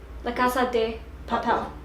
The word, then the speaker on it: La Casa de Papel: They're adding in like an A when it's just de. La Casa de Papel. Papel. Papel. Papel. Yeah. Papel. Say it. La Casa de Papel.